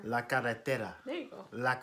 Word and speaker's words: la carretera: La carretera. You gotta roll your R. La carretera.